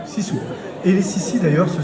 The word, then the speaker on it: sisu: Et donc tu nous parles de cette incroyable âme de la Finlande, ce qu'on appelle le Sisu, ça se prononce Sisu.